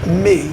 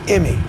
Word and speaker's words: Emmy: And that's not pronounced me, that's pronounced Emmy.